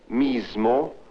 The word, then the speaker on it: mismo: sound there are also words like mismo AO with the z sound yet the difference between